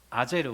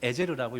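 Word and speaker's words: עזר: 아제르 혹은 에제르라고 읽어요.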